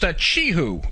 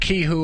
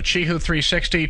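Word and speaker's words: Qihoo 360: It's like chee-hoo, kind of the opposite of achoo. Yeah, I know. I used to pronounce that kee-hoo all the time myself, and then somebody corrected me. So Chee-hoo 360, ticker QIHU on the Nasdaq.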